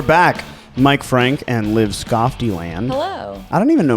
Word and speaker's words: Skofteland: Mike Frank and Liv Skofteland.